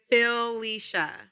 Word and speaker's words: Felicia: It's Felicia. It's doing too much. And you, if you're talking really fast, you'll say it like Fisha.